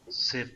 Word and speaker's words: C'est: Say is For me. exactly For same moi. as say in English. Say, the pronunciation is same as say in English, and pour moi, pour